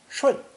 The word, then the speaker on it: 顺: A person kneeling next to flowing water, pronounced 顺, implies that one is going with the flow, complying with the rules, being obedient.